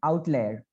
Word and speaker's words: outlier: right here the pronunciation how is like out layer like that it is saying outlayer okay so so this